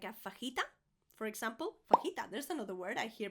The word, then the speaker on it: fajita: Fajita, there's another word I hear pronounced very wrong.